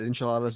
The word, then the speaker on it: enchilada: I had enchiladas; they were great, and I had a margarita. No, at that restaurant. It's pronounced enchilada.